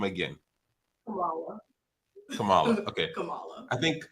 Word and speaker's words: Kymone: Actually, the first actually the first way you did it is the correct way. It's Kamala. Hold on. Don't confuse. No. How would you How How do you pronounce your name again? Kamala.